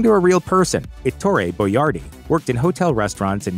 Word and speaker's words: Boiardi: jardino dalala in Cleveland Chef boardi started to use a phonetic spelling of his last name boardi so his customers could more easily pronounce it boardi said everyone is